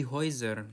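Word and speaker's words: Häuser: Nah, dan seperti kita tahu huruf e U dibacanya oi.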